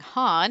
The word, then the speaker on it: Han: a new hope and I will be pronouncing Han with the same ah sounds there you go they're